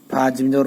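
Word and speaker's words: فجر: জের ইল এখানে চাপাইয়া ফাজর ফাজ এখানে শক্ত করে বলতে হবে রজের ফাজরি এখন আমরা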